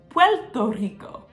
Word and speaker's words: Puerto Rico: talk about Puerto Rico did you know that at the end of a syllable a lot of the time Puerto Ricans don't say the letter R but Puerto Rico has an r in it at the end of a syllable Puerto Rico what so how do they say it well a lot of the time they say it PTO Rico huh so if you